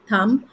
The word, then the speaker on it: thumb: And all the MB words, remember, the B will be silent. So, plumber, dumb, thumb. And when you say dumb, dumber, not dumber. Dumber. So B is silent.